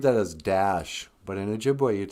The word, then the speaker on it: Ojibwe: eyes here no then the o is like the o in note or in ojibwe quit saying object it's ojibwe hey man you speak